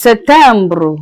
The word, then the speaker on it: septembre: September is Septembre. We have October. October is Octobre. We have November. November is pronounced as Novembre.